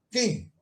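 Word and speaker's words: Khem: Quem? Esse é o nome, né? Quem? Se escreve assim, K-H-E-M, quem?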